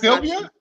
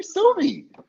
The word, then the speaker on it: Sylvie: So first of all, it's not Sylvia. It's not Sylvia. Did I say it wrong? You said, "Hey, Sylvia." Oh, hi, Sylvia. Hey, boo. Welcome. I'm my bad. I'm sorry, Sylvie.